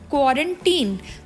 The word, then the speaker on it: quarantine: तो इसकी correct pronunciation क्या बनी? अगर तो लिखा हो QUARANTINE तो इसको हम बोलेंगे क्वारंटीन, और अगर इसी वर्ड के पीछे ED लग जाए यानी कि TINED हो जाए तो वो क्वारंटीन नहीं होगा, वो क्वारंटाइंड हो जाएगा।